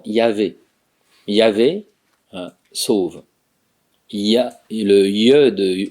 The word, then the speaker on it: Yahvé: Jéhovah, c'est la prononciation antisyllabique de la vraie prononciation Yahvé.